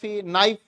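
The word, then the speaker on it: knife: तो उसमें क्या है के एन आई एफ नाइफ जब के बोलना नहीं तो उसको किस लिए रखते हो है ना उच्चारण नहीं करना तो क्यों रखते हो इसमें होता है अब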